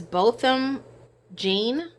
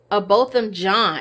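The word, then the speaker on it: Botham Jean: amber murdered both them I said I was pronouncing a possum but it's Bolton gene both of John is both of John and she murdered him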